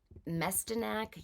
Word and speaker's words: Mestyanek: It's by Daniella Mestyanek Young, is how you pronounce it.